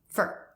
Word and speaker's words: for: There's a big difference between for and fur.